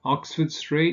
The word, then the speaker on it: Oxford Street: So if you say Oxford Street, with streets, this is usually the case, of course. Oxford Street, you stress the first word, the first element, and obviously you also get Regent Street then.